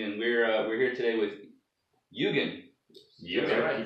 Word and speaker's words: Yugen: hadn't heard before and wanted to say like Yugen or Eugen or something, I don't know. Is Eugen the most common? Yeah. Okay. So it's Yugen.